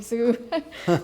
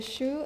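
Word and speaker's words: Hsu: Oh, a lot of people call me Zoo. Yeah. Good evening. My name is Shoe.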